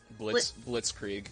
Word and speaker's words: Blitzkrieg: Blitzkrieg is how that's pronounced.